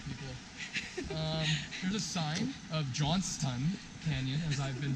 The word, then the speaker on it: Johnston Canyon: There's a sign of Johnston Canyon, as I've been pronouncing it wrong my whole life. Johnston's Canyon. Yeah, so I just pronounced it correctly. No, there's no S.